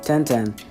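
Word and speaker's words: Tenten: at a wolfie gophy sorry and that's how they say it ten-ten and in real blink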